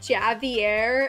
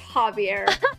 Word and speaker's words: Javier: name he was like Javier and I was like Maverick it's pronounced Javier he's like wait really I was like yes when you're speaking Spanish the J makes an H noise only reminds me of